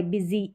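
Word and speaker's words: busy: है यहां पर वाय बिजी ई साउंड है वाई का और यू भी एक वाउ लेटर है तो यहां पर एस बीच में आ रहा है ज पढ़ा जा रहा है इजी में भी सेम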